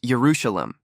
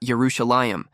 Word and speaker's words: Jerusalem: souvenir from Old Jerusalem the writing on the back says Jerusalem but in a kind of biblical way pronounced Jerusalem and not jeruselam as commonly pronounced in Israel today the building is a